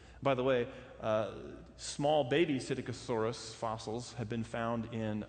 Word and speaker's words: Psittacosaurus: We found the tail vertebrae from Psittacosaurus. Some say Psittacosaurus, but that's harder for me to say, so I say it wrong.